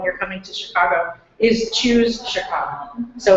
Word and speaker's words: Choose: Choose Chicago. So to spell it, C-H-O-O-S-E, Chicago. Sorry. No, it's okay. I've heard people say shoes, and I'm like, oh, okay, shoes.